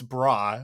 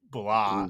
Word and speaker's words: Bra: on this pronunciation yet, because it's bra, but it's pronounced with an L sound, so it's blah.